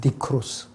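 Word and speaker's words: νεκρός: 그래서 이 죽이라는 mortify라는 일반적인 의미는요, 헬라어에서는 네크로스라고 발음하거든요. 네크로스.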